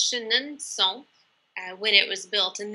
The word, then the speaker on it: Chenonceau: Shannon that block comes from the Chateau of Chenonceau which we pronounce with this should knowb song sound today but it might have been pronounces Shannon song when it was built and this is the